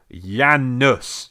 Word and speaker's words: Janus: And it's pronounced Janus, you twat.